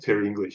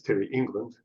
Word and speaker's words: Terry England: my name wrong first my name's not Terry English it's Terry England um that was interesting